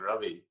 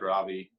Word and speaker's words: Ravi: before i started the funny thing about my name is if you say it properly it's an indian name and it's more like ravi but it feels very strange to me to say my name in an indian accent when nothing else i say comes out in an indian accent so for all my life i've said ravi and it's you know